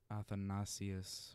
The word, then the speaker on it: Athanasius: So, I always want to pronounce names in the Greek, kind of, so it would be St. Athanasius or something, but I don't think it matters that much. It matters, but I think it's Athanasius or...